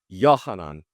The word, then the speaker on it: Yohanan: The Hebrew pronunciation of John is? Huh? Nope. Yohanan.